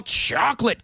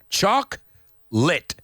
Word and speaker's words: chocolate: it it's chocolate chocolate say it's two syllables chalk lit chalk lit chalk lit